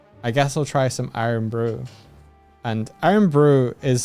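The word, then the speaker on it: Irn-Bru: cans did you know that I learned that iron brew has caffeine in it and the reason I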